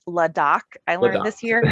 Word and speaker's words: LAHDAC: So it's pronounced LADOC.